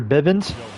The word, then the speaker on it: Bivens: the plate with Spencer Bivens Bens uh Spencer Biven that's that's the right way to say his name is on the